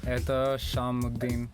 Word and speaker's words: Ethash Sham: Did I pronounce nice it right? To be here, yeah. Ethash Sham is my full name, but you can call me Ethash.